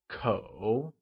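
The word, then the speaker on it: 口: The measure word for family is kǒ. It is pronounced with the falling, rising tone.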